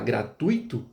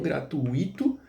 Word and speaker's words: gratuito: Então você vai falar gratuito e record, não gratuíto e nem recorde.